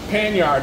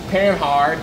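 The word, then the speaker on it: Panhard: And then we got the pan yard bar, pan hard, pan yard. Depends on where you're from, how you pronounce it.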